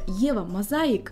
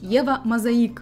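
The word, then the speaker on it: Eva Mosaic: последнего до сегодняшнего дня думал что бренд называется и вам мозаика на самом деле бренд правильно произносить его мозаика надо привыкнуть но суть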